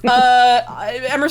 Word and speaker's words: Emrys: Emrys rhymes with Abyss or Atelier Emrys.